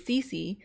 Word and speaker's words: Cissy: But apparently her name is Cece, just like me, but her name is spelled a little differently. Her name is spelled Cici, and mine is spelled Cissy.